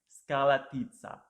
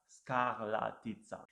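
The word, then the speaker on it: Škrlatica: One of the first problems you may have with this hike is to pronounce the name correctly. Skralatica. Skralatica. It took me about 2 weeks and the help of the retired Slovenian ski jumping athlete to pronounce it correctly.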